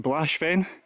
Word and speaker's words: Baosbheinn: Righty-o folks, here we've got the mighty, I think it's pronounced Blashfen, cracking corb of that.